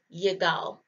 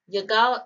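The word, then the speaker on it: יגאל: a leader all right our next name is yagao yagao is uh from the tribe of issachar this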